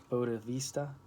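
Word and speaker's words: bodhisattva: to becoming a boats never know how to pronounce this word bode vista essentially an archangel is clearly laid out in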